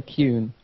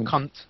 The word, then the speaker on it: Kuhn: I say Kuhn. Kuhn. Not cunt. No. Okay. That doesn't have a T.